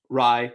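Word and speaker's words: Rai: And for the name, you can just say Rye. He said pronounce like Bai. So R-A-I, pronounce like Rye.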